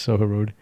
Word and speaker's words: Soho Road: No, it's not about getting it, but you're saying it wrong when actually it is actually just... It's wrong. It's Soho Road.